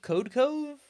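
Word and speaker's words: Codecov: There's a company called, I think it's pronounced Code Cove.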